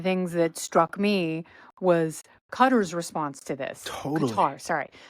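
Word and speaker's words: Qatar: this totally sorry um John Bolton used to say cutter and so I was like oh that's how you say it because he knows everything but everyone's like no it's qar so they get the World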